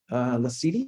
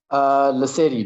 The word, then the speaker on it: Lasedi: Lasidi, is that how you say it? Lasedi, Jim. Lasidi, okay.